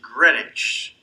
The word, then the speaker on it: Greenwich: of this was greenwich it's pronounced greenwich not like it's spelled village in new york